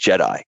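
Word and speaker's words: JedAI: how we spell it is j-e-d-a-i which stands for the joint Enterprise data and AI platform and pronounced Jedi and what it does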